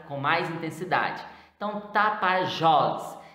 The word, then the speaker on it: Tapajós: Então, Tapajós. Então, Tapajós, nós percebemos aí que é uma oxítona, está pronunciada com a tonicidade mais forte.